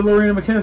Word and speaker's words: Loreena McKennitt: Yeah, Loreena McKennitt, sorry, I think that's how it's pronounced.